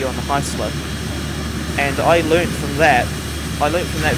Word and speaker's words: Heisler: do remember in the video, he kept saying Heisler wrong. He kept saying it was Hessler. But no, I'm pretty sure. I've always known that word as being pronounced as Heisler.